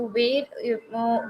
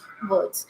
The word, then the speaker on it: were: W-E-R-E, word. This is word, not where. Many people, they pronounce it as where, but actually this is not where, this is word, right?